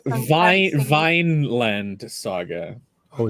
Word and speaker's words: Vinland: know you're thrown into this it's Phil it's pronounced Vine Vine land Saga oh it's like a land yeah just say Vine land I'll only have half an aneurism instead of